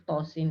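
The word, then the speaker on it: طس: Hai ada huruf Kosim Gimana cara membaca huruf tho Sin ini tamat bersama seperti Yasinta Dian itonya dibaca Dua harokat sim-nya dibaca 6 harokat nah di akhir huruf tho ini jangan dibaca seperti ada hamzahnya jangan ada imbuhan Hamzah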